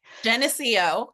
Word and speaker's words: Geneseo: Geneseo. Okay. Geneseo.